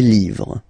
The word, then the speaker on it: livres: Les, and then same rule, you just write livre, and then you put S at the end, but then you don't pronounce it. Les livres.